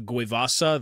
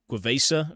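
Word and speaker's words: Gue'vesa: Like the Vespid, the Kroot, the, I think how you pronounce it is the Guevasa, the Guevesa or something.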